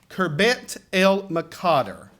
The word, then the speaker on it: Khirbet el Maqatir: to tell you that I butchered this name until I actually spent a little time with the archaeologist, and he corrected me on it and a few other things I was mispronouncing related to archaeology. But our exhibit name is Khirbet el Maqatir, a journey through biblical history.